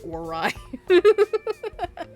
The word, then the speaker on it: Aorai: Literally how it's spelled. Oh, alright. I'm gonna be like Minorikawa and pronounce it Orai.